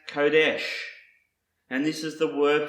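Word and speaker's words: קֹדֶשׁ: Another Hebrew word that starts with the letter Qoph is pronounced Kodesh.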